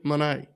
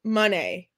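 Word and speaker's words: Moné: Mercedes Monet oh yeah did I say it correctly Monet it's money money I've listened to her a million times because every time she says it it sounds just like money so I want to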